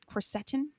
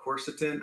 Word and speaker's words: quercetin: have heard of quercetin am i saying it right quercetin you can say my patients say that i call it quercetin i don't know who's saying that right but i i call it quercetin and a lot of my colleagues call it that but it doesn't matter